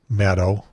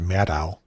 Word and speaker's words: Maddow: And by the way, you did a good job in pronouncing her name, Maddow. Almost everybody in media everywhere will pronounce it Maddow, like mad cow, but it's not.